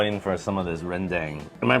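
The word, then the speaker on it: rendang: I'm going to go in for some of this renang. Am I pronouncing that correctly?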